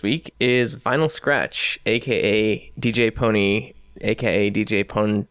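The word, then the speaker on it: DJ Pon-3: because it's cool still sounding name it's still pronounced DJ pony and it's still sounds better when you pronounce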